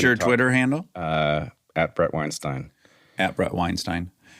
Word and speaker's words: Weinstein: um and you know it's a German word it has a meaning and so there is a correct pronunciation okay and it's Weinstein it's Weinstein all right so you're